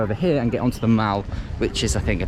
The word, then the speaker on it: The Mall: I was told in that Buckingham Palace video actually that it's pronounced the Mall, not the Mall. Very bad mistake for an English person to make.